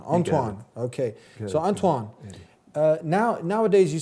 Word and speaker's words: Antoine: Back here on The Deen Show with Anthony, and proper pronunciation or proper way to say this name is Antoine. Antoine.